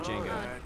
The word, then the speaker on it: Django: Dang it, Django. The J is silent.